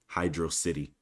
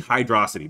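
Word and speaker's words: Hydrocity: needs to be said he has the nerve to pronounce it Hydro City I feel like I need to like bleep that or something but you guys need to know the truth okay oh boy okay it's obviously hydrosity but whatever anyway other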